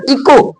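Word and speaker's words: echo: rhythm next है आपका इको इको इको means होता है गूंज यहां पर देखिए ओ एच के बाद ओ आया है ना तो एच नहीं बोला जा रहा इको मींस होता है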